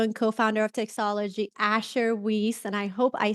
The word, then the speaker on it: Weiss: uh the ceo and co-founder of texology asher whis and i hope i said your last name